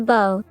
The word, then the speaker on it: bow: It was spelled like a bow and arrow but rhymed with now and whoa.